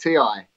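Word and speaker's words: T>I: It's just pronounced T-I.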